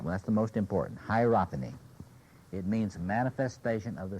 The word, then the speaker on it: hierophany: about the sense of uh here's the word hierophany hierophany can anybody spell it h i e r o p h